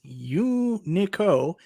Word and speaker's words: Unico: you say it nostalgia unico actually we got some clarity from john d in the chat it's you nico and it stands for you you and i company company you know in